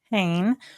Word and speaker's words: Hoehn: There's a teacher here locally, and her last name is Cohen, and it's spelled the exact same way, but just a K. And so when you said Hoehn, I was like, no, that's not how that's supposed to be.